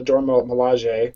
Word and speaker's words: Dora Milaje: it mean to be the, I'm going to mispronounce, the Dora Milaje.